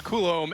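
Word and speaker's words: Coulombe: I failed the audition I think I said cologne being he goes well that's close but his coulomb and we really need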